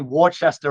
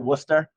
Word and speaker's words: Worcester: And he goes, 550 Worcester Road, and we pronounce it Worcester. So I knew right away he wasn't from Massachusetts.